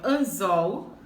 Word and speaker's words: anzol: Então, anzol, última palavra, última sílaba é a mais forte.